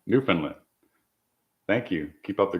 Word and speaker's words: Newfoundland: channel to be about I knew Foundland Newfoundland I caught myself I know that's I said it wrong the first time Newfoundland thank you keep up